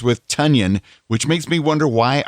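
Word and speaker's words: Tonyan: one which rhymes with tanyan which makes me wonder why our tight end suddenly claims his name is pronounced in a way that rhymes with funyun uh personally i think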